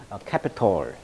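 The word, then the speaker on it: Capitol: 동사로 캐피톨. 자, 캐피톨은 미국 국회의사당을 말하죠. 이 캐피톨은 우리가 이제 그 수도로 말할 때 캐피톨 알죠? CAPITAL. 이 캐피톨하고 발음은 똑같습니다만 국회의사당이라는 뜻입니다.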